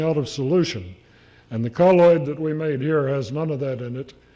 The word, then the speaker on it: colloid: And we recommend colloid, or colloid, depending on how you pronounce it. The preferred pronunciation is colloid, although most people call it colloid.